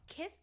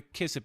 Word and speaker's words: Kith: But if Tyson said it, but it's Kith. Kith. Am I saying that wrong? Kith. Kith. K I T H. Yeah. Kith. You saying it right.